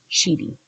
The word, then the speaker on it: Sheedy: killing John she cheating I keep saying his name wrong I'm afraid I'm gonna swear on YouTube's gonna flag me s-h-e-e-d-y sheety the confession was delivered first to Maloney and